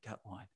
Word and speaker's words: Gutwein: May the 1st, I would watch this one with considerable interest because Peter Gutwein, it's how he should pronounce his name, but I think he pronounces it Gutwine.